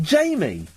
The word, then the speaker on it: Jame: Jame? Jame. Yeah. Okay. It pronounced Jamie. But that doesn't make sense, because the I's there. The I would be there if it was Jamie.